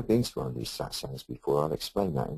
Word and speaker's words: Satsang: People pronounce it, when they're talking to me about it, Samsung, Satsung, Sitsong, so on and so forth.